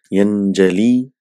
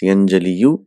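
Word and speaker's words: يَنْجَلِي: Yanjali. It's yanjaliyu. So it is pronounced as yanjali.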